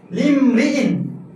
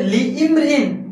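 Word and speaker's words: لامرئ: এই কারণে আমরা এখানে বলবো লিমরিইন। এখানে কি বলবো? লিমরিইন। যদি বলি যে লিইমরিইন, তাহলে সেটা হবে ভুল।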